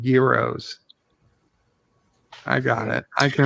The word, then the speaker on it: gyros: Gyros. Gyros. Gyros. Yeah, exactly. Not kilos. Gyros. Like gear, like a gear, like you have a gear in a car, or a cog.